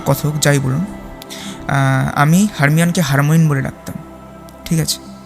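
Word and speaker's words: Hermione: এই প্রসঙ্গে বলে রাখি এখানে হারমোইন হচ্ছে কিছুটা অনিচ্ছাকৃত বিকৃতি হারমোইন নামটার সরি হারমিয়ন নামটার তো আপনারা সবাই জানেন যে হারমিয়ন হ্যারি পটারের যে সিরিজগুলো ছিল তাদের মধ্যে একটি চরিত্র।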